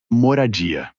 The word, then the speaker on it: moradia: A palavra que você procura é moradia.